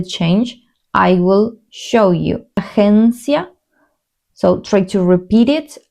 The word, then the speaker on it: agencia: Agencia, so try to repeat it. Agencia, agencia. It's like an H and an E, agencia. The pronunciation here, it's like if you were saying G, like this.